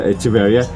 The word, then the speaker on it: Echeveria: Yeah, the echinacea the spelling of echinacea is similar as the Echeveria. That's why the correct pronunciation is Echeveria. Echeveria. Oh, CH. Echeveria. Yeah, Echeveria. Not Echeveria. Yeah. Not Echeveria. Echeveria. That's the correct one to pronounce this like the echinacea.